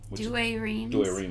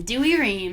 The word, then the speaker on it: Douay-Rheims: a copy of apparently an old family douay-rheims do a rheem is there one right there it's a catholic